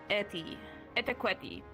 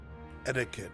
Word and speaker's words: etiquette: E Thai Q E Thai Qi etiquetti etiquette.